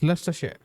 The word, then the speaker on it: Leicestershire: It's Leicestershire, right? You just ignore the letters between the first syllable and the ester.